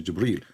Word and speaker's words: Jibril: It says Jibril.